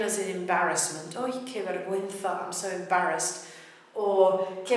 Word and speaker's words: vergüenza: Because if we've got a GUE or a GUI, it should be pronounced gi. And the way we do it is to put two little dots over the letter U. A nice word here is vergüenza.